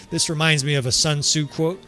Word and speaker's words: Sun Tzu: Like 1,500 years before Frederick the Great said it, Sun Tzu, which Sun Tzu is actually correct pronunciation for those out there about to correct me.